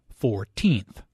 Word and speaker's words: 14th: The stress is on the second syllable, 14th.